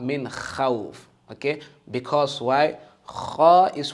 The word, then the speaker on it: خ: Pronounce it in full mouth. Because kha is one of the letters of full mouth.